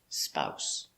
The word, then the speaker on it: spouse: their honeymoon very good spouse pronunciation this s is pronounced like an s not a zebra not z it's s spouse so spouse a husband